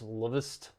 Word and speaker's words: LVST: So I guess it's supposed to spell lust, but it's Luvist because it has a V instead of a U.